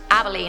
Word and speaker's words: Abilene: Abilene is pronounced Abilene.